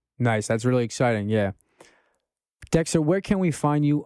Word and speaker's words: DX3TR: So it's very easy, but it's pronounced Dexter. Yeah, and you find there everything. Actually, I have my SoundCloud. You find me Dexter, DX3TR, and yeah, SoundCloud, Spotify, the same.